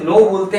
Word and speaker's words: know: ओ डब् नो अच्छा इसे नो बोलते हैं नाउ या कनाव प्रोनाउंस नहीं करते हैं कई लोग प्रॉब्लम